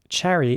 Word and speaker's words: cherry: And cherry is quite easy to pronounce in my opinion, but you have to pronounce the CH at the beginning like a cherry. Not cherry or something, but cherry.